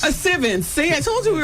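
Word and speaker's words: Sylvince: Sivens. Sivens.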